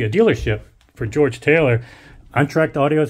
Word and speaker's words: Entracte: which is actually a dealership for George Taylor untracked audio is how you pronounce it welcome to untracked audio that's how